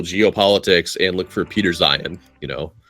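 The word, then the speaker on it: Zeihan: and look for Peter Zion you know Zion is spelled like zih H an or something like that yeah zih ha an it's and it's he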